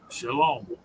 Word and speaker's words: shalom: shalom is pronounced shalom, SLOAM.